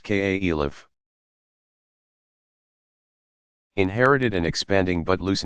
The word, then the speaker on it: caliph: successors muhammad's immediate successors called caliphs pronounced k.a elif inherited an expanding but